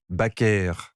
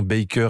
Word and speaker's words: Baker: Son fils a rappelé récemment que durant les dernières années de sa vie, Joséphine répétait qu'elle voulait qu'on prononce son nom Baker Ah oui. et non Baker à l'américaine.